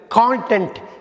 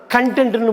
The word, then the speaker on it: content: அடுத்து நம்ம பார்க்க போகிற ஹோமோகிராஃப் வந்து கான்டென்ட், CONTENT. இதை கான்டென்ட்னு படிக்கலாம், கண்டென்ட்னு படிக்கலாம்.